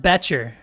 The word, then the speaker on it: Boettcher: what's up man it's uh it's pronounced betcher betcher okay batcher uh